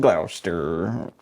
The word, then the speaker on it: Gloucester: Like if you don't get pneumonia, you're not having fun in Gloucester. How you say it? How you say it? Exactly like that.